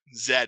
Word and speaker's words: Zed: right zed tax proxy zed because we're we're pronouncing it the european way uh here's what attack